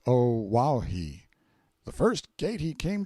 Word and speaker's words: Oahu: I named him after this island, Oahu, pronounced O Wahhei.